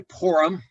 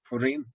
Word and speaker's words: Purim: Now in America, some people say Purim. They put an O instead of a U there and pronounce the I like a short I. But in Israel, it's Purim.